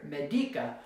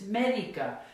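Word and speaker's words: médica: Now, this ends in a vowel, so the natural stress should be here, medica, but that's not how you say it. It's medica, and so we have to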